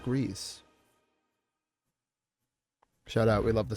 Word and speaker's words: Gris: But a quick Google search leads me to believe that because the studio is Spanish, it is pronounced Grease.